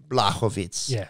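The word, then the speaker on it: Błachowicz: But it seems like the commentators and the lingo seems to be Jan Blachowicz with a silent H.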